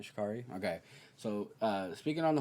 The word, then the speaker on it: Sha'Carri: So, speaking on Sha'carri Richardson, that's how you pronounce her name, right? Sha'carri?